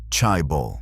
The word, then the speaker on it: chaebol: The families he chose became known as Chibbles, pronounced Chai, meaning wealth clan in Korean.